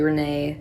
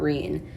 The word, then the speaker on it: Rene: is tropical storm renee i was pronouncing it wrong last time it's actually renee not rin but by the radar